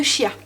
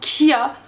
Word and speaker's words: chia: Donc j'ai mis 30 g de graines de chia ou chia. Ou... oui, je sais plus trop comment ça se dit. Voilà, ça s'écrit C-H-I-A. Mais je crois que ça se dit kia. Comme kia.